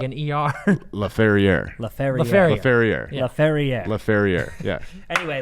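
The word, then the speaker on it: Laferrière: Okay, how do you say Alex's last name? Alex Laferriere. Alex Laferriere. I thought it was Lafayette. That's what I couldn't remember. I don't know. Lafayette, I think. I say Laferriere to him, and he doesn't say anything.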